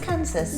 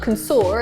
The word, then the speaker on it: Kansas: But then, if you look at the end of the word, Kansas is pronounced Kansas. Yeah, it's not consor, is it?